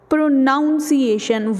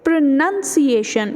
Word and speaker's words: pronunciation: So pronunciation, it is usually pronounced as pronunciation.